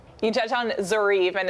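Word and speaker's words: Zoryve: You touched on Zarieve and it's funny you guys told me, hey, it rhymes with believe.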